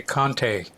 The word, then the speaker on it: Conte: It depends on what country you're in. If you're in the United States, you say Conte.